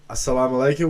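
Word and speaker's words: as-salamu alaykum: Well, assalamualaikum wa alaykumsalam, my friend.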